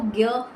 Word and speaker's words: ज्ञ: ज्ञ, इसको कहीं ना कहीं ज भी बोला जाता है ना। पुराने टाइम में जो हमारी पुराण वगैरह, उसमें कहीं ना कहीं इसकी प्रोनाउंसिएशन ज भी है, बट इसको ज्ञ के साउंड से बोला जाता है, जो कि कॉम्बिनेशन है ज और निय का।